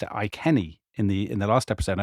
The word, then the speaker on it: Iceni: I noticed that you pronounced it Iceni in the last episode.